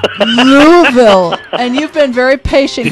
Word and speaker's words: Louisville: from Louisville, Kentucky, and I don't even come close to pronouncing it the way you do. It's Louisville. Louisville.